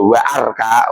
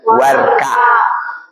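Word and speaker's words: واركع: Kalau diberi wawu bacanya warka warkau maariin. Jangan dibaca wa arka.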